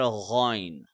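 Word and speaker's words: غ: both of these, however, kha is more harder and ghain is a softer version.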